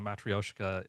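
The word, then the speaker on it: matryoshka: And there was a comment, by the way, that you were pronouncing Matrioshka exactly right, which is obviously that she didn't learn it from me.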